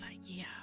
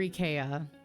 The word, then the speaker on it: IKEA: I love IKEA or EA, depending on where you're from and how you say it.